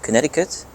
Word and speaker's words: Connecticut: Connecticut, I think the US pronounce it, Connecticut.